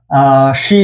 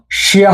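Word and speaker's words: しゃ: এখন দেখবো আমরা শি দিয়ে। শি, ইয়া। এটার উচ্চারণ শিয়া হবে না, এটার উচ্চারণ হবে শা।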